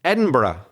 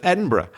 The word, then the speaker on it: Edinburgh: inhabitant of a fortified town, a Berg like Edinburgh or as they perhaps said many years ago, maybe they pronounced it Edinburg. And American tourists still do, but but British people prefer to pronounce it Edinburgh.